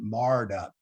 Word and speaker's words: mired: for farmers mired up we call it in my dialect we pronounce it marred up but a truck or